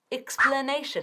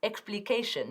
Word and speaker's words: explanation: Explanation, la palabra del día. Una vez más, explanation. Muy bien, y no explication, no. Explanation. 4 sílabas.